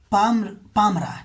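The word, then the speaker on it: Palmyra: अगला इम्पोर्टेंट जो जगह चर्चा में थी वो था आपको पमियरा, या इसको कहेंगे पामरा, ठीक है। क्या कहेंगे इसको, एल यहाँ पे साइलेंट हो जाएगा, पामरा हो जाएगा, ठीक है।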